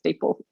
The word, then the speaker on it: DeepL: So curious to know from everyone watching how you choose to pronounce it. Personally, for me, it's DeepL.